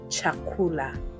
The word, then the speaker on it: chakula: And in Swahili they are ch. The equivalent of this sound can be found within the word chair in English. And the sahili word to show us how the sound is pronounced will be chakula.